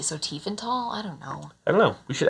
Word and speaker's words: Tiefenthal: And I heard just today, that the TH is pronounced as a T, so Tiefenthal?